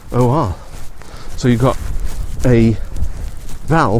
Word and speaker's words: Nikkor: When you have vowel, consonant, vowel, the first vowel is stretched to be pronounced as a long vowel as opposed to a short vowel. So the lenses that are made for these are made by the Nikkor Corporation, Nikkor.